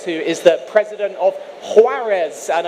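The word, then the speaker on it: Juárez: is the president of huarez and I'm told that that has a very firm H in the pronunciation how was the pronunciation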